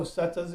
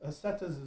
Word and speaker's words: setas: So setas eternal living, and it was setas is proper Spanish pronunciation for mushrooms.